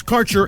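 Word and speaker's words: Kaercher: Quality cannabis Insurance Services is spelled k a e r c h e r that's carer insurance we have worked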